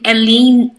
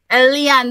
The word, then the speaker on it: Eliane: Eliane, that's a French name. Most of the anglophones, they struggle to pronounce it because that's a typical French name, Eliane. Yeah. So most of the time I hear Hélène.